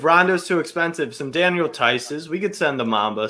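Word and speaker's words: Theis: Tice.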